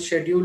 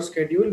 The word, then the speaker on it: schedule: for example schedule and schedule most of us think one is right whatever we have learned schedule or schedule we think that that is right but actually both are right one is American one is a British so many teachers have